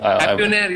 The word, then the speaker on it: Happionaire: Happionaire, yeah, like billionaire, millionaire. Okay, fantastic.